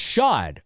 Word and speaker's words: Shod: It's pronounced Shod. Okay. Dave, it's pronounced like Shod.